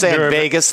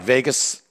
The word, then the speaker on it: vagus: vagus nerve Mikey is the largest Vegas like Vegas it sounds like Las Vegas but it's spelled a little differently but it's the largest